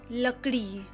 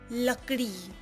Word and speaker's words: लकड़ी: As you say love in English, it is the same pronunciation love. A word from la is lakdi lakdi लकड़ी, ल-क-ड़ी, लकड़ी.